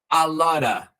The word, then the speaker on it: a lot of: A lot of. Eu vou falar o quê? A lotta. A lotta, tal qual no slide anterior.